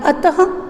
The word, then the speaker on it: अतः: ठीक है, और आहा जिसका उदाहरण है अतः, विशेषतः, प्रातः। अब आपको इसका उच्चारण करते समय में समझ में आया होगा कि यहाँ पर विसर्ग का उच्चारण करते समय ह का उच्चारण होता है।